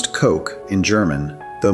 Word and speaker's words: Koch: Number nine, Koch, pronounced Koch in German, though But Americans say coach.